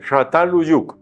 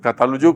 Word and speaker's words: Çatalhöyük: Pero este es muy suave, parecido a la S, casi como la S, Çatalhöyük. Eso es pues nada más un recorderis ahí. Pero nosotros quedamos bien, cuando decimos Çatalhöyük, nadie se va a